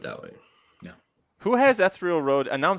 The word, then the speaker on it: Ethereal Road: me on Twitter already it's it's ethereal Road ethereum ethereal Road ethereal road is the correct correct pronunciation okay one of the